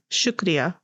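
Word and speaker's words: शुक्रिया: Shukriya. Shukriya? Like I shook Ria.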